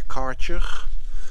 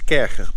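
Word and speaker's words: Kärcher: lights, one low for like a kercher, or as your Americans say, a karcher, high pressure washer. It's kercher, by the way. It's not kercher. It's German, kercher.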